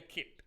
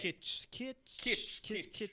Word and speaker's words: Kitsch: Taylor Kitsch. I'm probably not pronouncing it right. Taylor Kitt. With Right? Kitsch. Right, Taylor Kitsch.